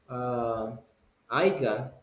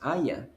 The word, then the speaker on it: haya: I told you last time, people say aiga, and aiga doesn't exist. The correct one is haya.